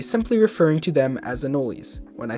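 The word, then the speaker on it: anole: Also, did you know anol is pronounced anoli?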